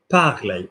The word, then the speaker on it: parlait: Luke parlait. No bugger in the middle, just the A sound.